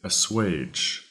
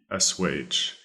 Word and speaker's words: assuage: dyspeptic our fourth and final word today is ass wage ass wage that is spelled a SS you a GE ass wage now ass wait quite simply means to make